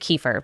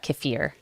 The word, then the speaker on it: kefir: Tell us more about, you say, I always pronounce it kefir, but kefir. You can do it either way.